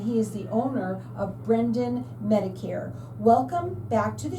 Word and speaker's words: Braden: My first guest is Michael Brendan, and he is the owner of BRADEN Medicare. Welcome back to the show. You have been on the show before, and I said Brendan, it's Braden.